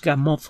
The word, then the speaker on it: Gamow: los libros de george gamow se escribe como suena hagamos con un ave chica al final si usted busca los